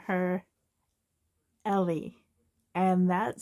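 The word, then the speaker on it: Ele: e l e and that's how she will spell her name is e-l-e and but you pronounce it Ellie so yeah here's Ellie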